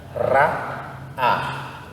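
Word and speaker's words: ראה: tanta diferença assim ó nós temos agora duas letras que não são pronunciadas praticamente Então nós vamos ver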